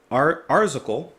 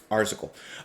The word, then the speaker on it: Arzachel: Today we're listening to, how do you pronounce that? Arzachel. No, Arzachel.